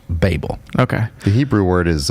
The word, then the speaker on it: Babel: we'll call it Babel but if it goes ba BL just like label then it should be pronounced Babel okay the Hebrew word